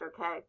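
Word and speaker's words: Ohkay: and santa clara and okay and house and yes that's pronounced okay those are all pueblos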